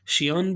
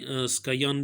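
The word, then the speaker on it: scion: stock क्या होता है सियान भी इसे पढ़ते हैं स्का यान भी पढ़ते हैं जो आपको सही लग रहा हो वही आप पढ़ सकते हैं प्रोनाउंस कर सकते हैं उसको स्का यान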